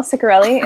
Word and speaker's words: Ciccarelli: your work sure yes you do that well Ciccarelli is how you pronounce my last name i am Ciccarelli